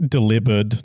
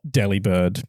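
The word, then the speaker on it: Delibird: According to official pronunciation, it's meant to be annunciated with the same infliction as delivered. Oh, really? Delivered. So, it would actually be delivered, not deli bird, because it is a delivery bird.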